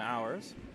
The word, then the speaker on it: Ours: biggest concern right now I apologize for the mispronunciation of the skips name the problem is the word horse in French means bear I somehow feel predisposed to pronounce him that way but it is indeed Stephen ours and as expected he's